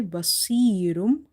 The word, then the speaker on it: بَصِيرٌ: So we have to say basirum, basirum, sod heavy, ya stretch because ya is madda.